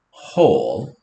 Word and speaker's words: whole: A W usually says w. So whole. So silent W, and then the rest of it is exactly the same, right?